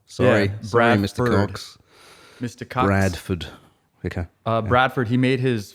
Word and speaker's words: Bradford: I'm sorry, what I got to go back to is Bradford Cox. I keep wanting to say Brian. I said Brandon as well. Sorry, Mr. Cox. Mr. Cox. Bradford.